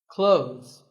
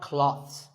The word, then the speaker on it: clothes: Clothes. But what's silent here? Well, first of all, this word is not cloths. When we say clothes, the TH in the middle can often be silent.